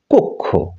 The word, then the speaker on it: কক্ষ: সমন্বিত রূপ এরপর আমরা এটিকে বলি কক্ষ শুদ্ধ উচ্চারণ হচ্ছে কক্ষ যেমন বক্ষ নয় বক্ষ ইত্যাদি এরপরে যে আমরা